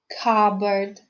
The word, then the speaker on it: cupboard: the letter p is silent let's learn to pronounce some other words that have silent p so listen and repeat psychologist cupboard raspberry receipt well done now let's take another